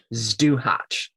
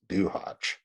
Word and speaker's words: Zduhać: Zduhać. So it's spelled ZDUHAC. Zduhać.